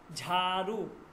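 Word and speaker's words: جھاڑو: হে ঝ ঠিক আছে ঝারু ঝ জিম যোগ হে মিলে কি হয় ঝারু ঝারু ঠিক আছে আছে ঝা ঝারু এটা কিন্তু আপনি জারু বলবেন না জিম যোগ হে মিলে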